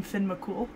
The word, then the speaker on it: Fionn mac Cumhaill: the comment right that you actually pronounce his name finn mccool cool yeah that's easier to pronounce um well eventually they caught